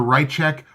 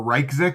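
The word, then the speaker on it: Ryczek: our YC z EK it's either right check or Reich sick and I apologize that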